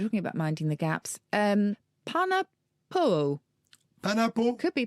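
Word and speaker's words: panapoʻo: Panapo. Panapo? Could be panapo.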